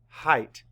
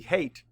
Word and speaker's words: height: So E-I-G-H can also say I. Let's spell it. E-I-G-H-T. Height. And let's write it. This is definitely an odd combination this week. H-E-I-G-H-T. Height. And E-I-G-H is our pattern. Height. If it was the A sound, it'd be hate. And that would not be how you spell hate. Our next word is freight.